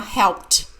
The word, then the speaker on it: helped: of help teach Andrea helped the Ed sounds like tea my friend helped me